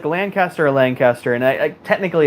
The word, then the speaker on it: Lancaster: Someone says pronounce the word Lancaster. It's definitely Lancaster. Yeah. Lancaster. Yeah. Lancaster. It's like Lancaster or Lancaster, and I technically it's Lancaster.